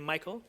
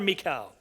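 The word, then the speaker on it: Michal: Today we are going to be looking at Mikael, the daughter of Saul. Some people pronounce it her name Michael, but I have a son named Michael, so I'm just going to stay away from that altogether.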